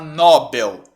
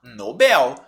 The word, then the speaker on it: Nobel: seria assim com assim se fosse Nobel ela seria paroxítona terminada em L do rosto não aí precisa até assento não precisa como não tem essa palavra não tem acento eu não vou pronunciar Nobel eu vou pronunciar Nobel